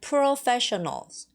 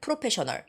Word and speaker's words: professional: In Korea, we use that word, professional. Professional, professional. Professional, professional. You see the difference? The stress. 강세, the stress. Professional, professional. Professional, professional, all right? Professional. You have to know where the stress is.